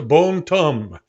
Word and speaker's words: Bon Temps: for, and this one is today's shave soap, Bombe Tombe Barber Shop. Now, it looks like it should be Bon Temps, but it's pronounced Bombe Tombe, which means good times.